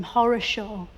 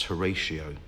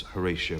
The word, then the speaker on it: Horatio: his parents call him Horror Show I think they probably intended to pronounce Horatio but it just got mishmashed up and became horisha no I think that most people still know him as Horatio Nelson as well as